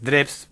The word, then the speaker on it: Drews: Normalmente siempre me decían Dreus acá en Uruguay. Ajá. Es un apellido alemán, es Drebs, pero se acepta Dreus totalmente, porque desde la jardinera hasta la universidad siempre me dijeron Dreus.